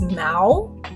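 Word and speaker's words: 猫: you learned it yeah it's it's mao um but mao mao mao it's it's i think it's first tone which is a flat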